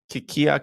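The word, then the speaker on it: Kilkea: and you do not golf in Ireland called Kikia Castle, right? Is that what's called? Kilkee, yeah. It's Kilkee pronounced Castle Kilkee.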